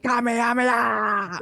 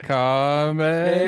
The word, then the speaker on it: Kamehameha: I'm going Super Saiyan Kamehameha. I don't know how to say it. You're killing me when I say it. It's like Kamehameha.